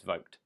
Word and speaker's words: Vogt: artist Wolfgang Vogt, and yes, Vogt is the correct way to pronounce it before you say it's Voigt, it's not, it's Vogt.